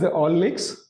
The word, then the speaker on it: Allnyx: So first of all I would like to know about the company Elinx. How we pronounce this company? Uh company name is Ollex.